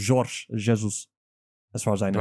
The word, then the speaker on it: Jorge Jesus: you do pronounce the J. It's not Jorge Jesus. It's Jorge Jesus.